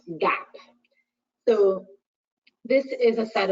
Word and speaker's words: GAAP: should be familiar with the first one is pronounced GAAP so this is a set of prints of